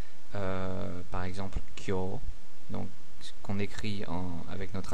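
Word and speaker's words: 今日: a prononcé par exemple Kyo, donc qu'on écrit avec notre alphabet à nous K-Y-O-U. Donc voilà, par exemple, on ne va pas prononcer Kyo-U ou quelque chose comme ça, c'est Kyo.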